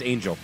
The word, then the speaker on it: Angel: looked this up earlier it's angel angel okay well it is spelled Angel but I thought maybe it could be it could be on hell yeah Brandon Angel announces